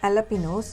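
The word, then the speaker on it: jalapeños: இதோட பேர் வந்து அலபினோஸ். இதை நிறைய பேர் தெரியாமல் ஜலபினோஸ்ன்னு சொல்லுவாங்க. இது மெக்சிகன் மிளகான்றதுனால ஸ்பானிஷில் ஜே வந்து ஹெச் சவுண்டில் ப்ரொனவுன்ஸ் பண்ணணும்.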